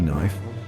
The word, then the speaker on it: knife: And that K sound, yeah, it faded faster than my hairline. By the time Middle English rolled around, the K had gone totally silent. So next time you see knife, just remember that silent